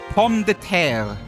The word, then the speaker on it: pomme de terre: Like for example, I think in a pomme de terre, right? Like that means potato, right? Pomme de terre, and that has like a little R at the end that you usually pronounce a little bit, right?